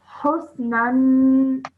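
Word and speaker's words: حسنا: And you learned fathaten should be pronounced for 2 seconds with a nasal sound. So, nan. Nan. Well done. Husnan.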